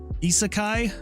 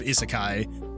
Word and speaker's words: isekai: um in is is is it uh pronounced isekai I think that's how it's I think that's how I've heard it pronounced an isekai uh is